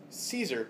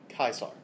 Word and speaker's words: Caesar: Roman Empire and so whenever we see the letter C in Latin class we will only pronounce it as the letter K so that hard sound